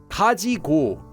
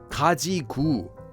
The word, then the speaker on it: 가지고: then left oh and one more thing Kaji is often pronounced in speech as kajiu just because it sounds easier to say so